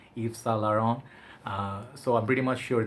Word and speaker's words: Yves Saint Laurent: So I usually have hard time saying the full name, Yves Saint Laurent. So I'm pretty much sure that I just pronounced that, butchered it, but YSL, we'll keep it on the safe side.